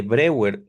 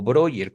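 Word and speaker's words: Breuer: Aquí, por supuesto, cabe enfatizar, Ana fue paciente de brewer o broer, como gusten pronunciarlo. Ajá. Es lo mismo.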